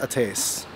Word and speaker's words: Ates: restaurant that we want to check out called eights i'm pretty sure it's pronounced ates it's pronounced attace apparently it's a turkish word for fire is